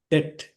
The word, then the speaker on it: debt: B is a silent letter. Debt.